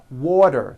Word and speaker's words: water: Water is pronounced as water. The T turns into a D and the whole word is voiced. Water.